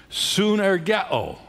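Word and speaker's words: σύν: written this expression translates a word in the Greek language which is pronounced sun and it is a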